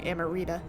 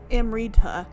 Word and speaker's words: Amrita: big bigger deeper meaning am reads uh m rita instead of where i was going amarita it's amrita uh and it's almost like